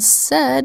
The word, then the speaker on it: said: word said si ID usually AI makes a long a sound a and said it makes a short e sound s that's unexpected so